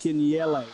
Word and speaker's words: Kinyele: It's pronounced Kinyele. There we go, Kinyele.